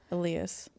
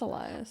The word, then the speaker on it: Elias: is Elias Pon yeah Alias Alias Elias it's Elias I always say it wrong P yeah